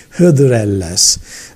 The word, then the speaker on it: Hıdrellez: Hıdır, Ellez are together in the pronounce of the Anatolian people. They say Hıdrellez. Normally it is Hıdır İlyas.